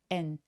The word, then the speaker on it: and: D발음은 잘 발음하지 않습니다. 접속사들은 엄청 중요한 키워드가 아니어서 힘을 조금 빼고 발음하게 되는데요. and 그래서 and라고 드 소리는 잘 내지 않아서 and said and said라고 해 주세요. 그리고 슬픈 거는 sad인데 턱을